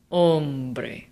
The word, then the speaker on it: hombre: Hombre. Where is the natural emphasis in this word? This word ends in a vowel, which means that the emphasis naturally falls on the second to last syllable.